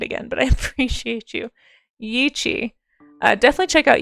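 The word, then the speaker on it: Yi qi: I always forget how to say it's like yichi or yiki.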